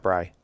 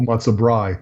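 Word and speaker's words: matzo brei: Yeah, no, I don't even like matzo brie. Brie. Brie. Brie. What? Brie. Not Bry. No, matzo brie.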